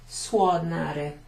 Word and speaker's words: suonare: Suonare, suonare. It's kind of a U and an O is like a wa. Suonare.